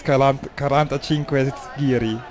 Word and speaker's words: 45 Giri: And I just heard how to say the name right, it's 45 Giri.